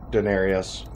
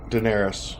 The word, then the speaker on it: Daenerys: going I guess with Denarius why did you just do that Oh cuz you sit because you say it wrong but it's okay Daenerys there you go Denarius you know she's